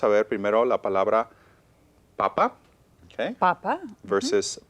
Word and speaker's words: papa: So vamos a ver primero la palabra papa, okay, Papa. versus papá. Papa. Okay, notice one has an accent. So one is papa, the first one. Segunda es papá. Papa. So they're pronounced differently.